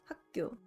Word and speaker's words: 학교: 학교 is pronounced as 학교.